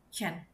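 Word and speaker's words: zehn: Tapi kalau aku untuk 10 dibacanya Chen. Jadi dry Chen, via Chen.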